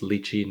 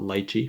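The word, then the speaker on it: lychee: And it's pronounced Luchi, not Litechi.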